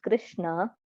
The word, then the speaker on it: Krishna: The word Hare, pronounced Hare, Krishna, pronounced Krishna, and Rama rhymes with Rama as are Sanskrit words.